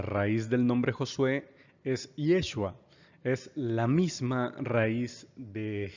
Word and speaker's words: Yeshua: que así le llaman yeshua es la pronunciación correcta la pronunciación original del nombre Jesús Jesús evidentemente ya es